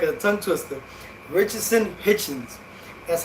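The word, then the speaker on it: Richardson Hitchins: Richardson Hitchens, that's how you say his name.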